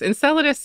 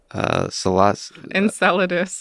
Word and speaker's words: Enceladus: that because enceladus is a is a moon of saturn and